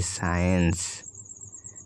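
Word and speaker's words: science: একসাথে এস ও সি থাকে তবে সি এর উচ্চারণ হবে না যেমন এস সি আই ই এন সি ই সাইন্স এস সি এন T Saint যে এর পরে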